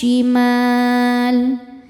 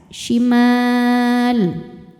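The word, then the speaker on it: الشمال: Selanjutnya ada hukum alif lam namanya alif lam syamsiyah. Sebab alif lam menghadapi huruf syamsiyah yaitu shin. Cara bacanya alif lam tidak dibaca, masuk langsung ke shin. Wa ashabush shimal.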